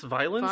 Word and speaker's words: violence: Do you pronounce violence as two syllables? I guess it is violence. Violence. I don't know. Sex and violence. Sex and violence. It's weird to pronounce it as three.